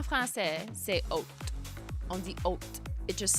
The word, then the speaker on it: haute: On dit haute. It just sounds like I'm saying haute if you're an English-only speaker. But en français, c'est haute. C'est la, like that's how you would pronounce H-A-U-T-E. So, je suis correct.